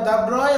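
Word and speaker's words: de Broglie: দ্য ব্রয় হচ্ছে original উচ্চারণ, ডি ব্রগলি আমরা ডাকি।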